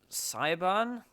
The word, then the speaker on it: Siobhan: I think it's spelled. It's like probably completely wrong. Chauvin? It's Siobhan.